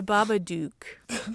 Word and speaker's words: Babadook: duck dang it the babadook does it right no shoot it rhymes with book book book book baba dick duck